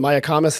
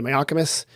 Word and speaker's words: Mayacamas: Depending on how you want to pronounce it, the Mayacamas, the Mayacamas.